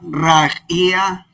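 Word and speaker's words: רקיע: La ayin al final, la ayin es muda, así que no la pronunciamos, pero tengo que pronunciar como si fuera un diptongo, ia. ¿Por qué se pronuncia rajía, rajía? ¿Quién me dice? ¿Dónde aparece aquí una I? Porque vemos la resh, vemos la A, vemos La yod. Por la yod.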